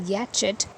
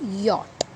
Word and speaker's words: yacht: yarn yok yam yacht if you were pronouncing this y-a-c-h-d as yatchit please note the pronunciation is yacht so the phonic sound